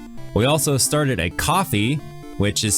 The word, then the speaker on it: Ko-fi: We also started a coffee, which is spelled KO-FI, for those who want to show their appreciation but don't really want to commit to a monthly donation.